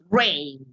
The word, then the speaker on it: reign: Rain. Rain. The G is silent.